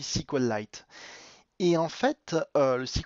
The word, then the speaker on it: SQLite: twilight qui tourne ou sql little si vous voulez ça dépend de la prononciation moi je dis si cole light est en fait le